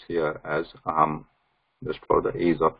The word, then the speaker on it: अहम्: This aham, though it is written like this and pronounced like that with the anuswara, we know that aham Ramesha. That's how it should be actually pronounced, right? When it is anuswara, we do not, this writing and pronunciation is different. This is aham, whereas this is aham Ramesha. There is no pause between this saying Ramesha, Ra of Ramesha and Anuswara. It has to be continuous.